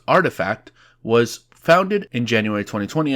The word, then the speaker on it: RTFKT: blend culture and gaming rtfkt pronounced artifact was founded in january